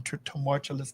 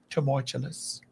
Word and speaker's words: tumultuous: Some what? Turmoilous. Wait a minute. Say it again. Turmoilous. Troublesome times ahead. Say it again. Tumultuous. Tumultulous. How do you spell that? Tur r. Tumultuous. Tumultuous. Tu m. Tumultuous. U t i o. You put a few more syllables in in consonants. Tumultuous. Uh-uh. Tumultuous. Tumultuous times. Say it again. Tumultuous. There you go.